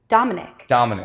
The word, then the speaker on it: Dominic: Dominic.